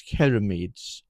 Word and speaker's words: ceramides: oil and barrier strengthening ceramides or keramides, I think it's pronounced. My my wife told me off the other day for misprononunciation. It's keramides. Skin is left feeling renewed and irresistibly soft.